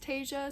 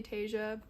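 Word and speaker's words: Taissa: I love, I think her name is pronounced Tasia, so I'm gonna say Tasia.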